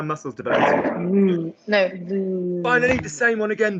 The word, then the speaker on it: vous: So could you please say for me, vous? Vous. Is the vibration coming up here? Keep it down there. Vous. Vous. That's it. It'll work.